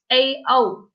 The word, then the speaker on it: Tao: Okay, so your name is Tao, like Yes. T-A-O. Yep. TAO. Okay, but pronounced Tao.